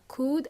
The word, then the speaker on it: could: sound more polite remember could and would L is silent we don't pronounce the L well how do we